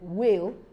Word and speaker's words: whale: letter but not sounded whale a type of fish is another word that the H is not pronounced we have other examples